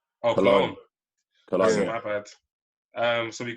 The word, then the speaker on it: Cologne: Then on the Sunday, we got Colgane, I think. Colgane. I'm not sure. Excuse my pronunciation. Versus Mainz. How do you say it, Rio? Cologne. Oh, Cologne.